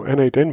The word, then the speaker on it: n8n: And I think the official way to pronounce it is now N8N, but it was Node Mation not too long ago.